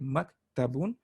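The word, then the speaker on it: مَكْتَبٌ: we have to know it sounds like muk tabun so now you can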